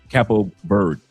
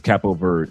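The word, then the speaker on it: Cabo Verde: language is actually uh cappo or a cappo capo bird. That's what it is. Capo ver. The d e is is silent. So, it's cappo bird in in Portuguese or capo bird.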